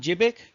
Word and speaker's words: GBIC: uh the one gig they were called jibbik they did well it's spelled jpeg uh gbic uh that was the